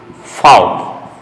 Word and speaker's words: Vogel: Vogel means bird. Fowl. Now look at the sound. V gives the sound of F.